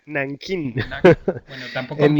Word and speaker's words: Nankín: Digo, mira, no se dice Nanjing, sino Nankín.